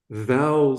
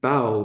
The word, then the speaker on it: vowel: In Japanese language, there's no letter V. So when they see a V sound, they pronounce it as B, like B for beetle.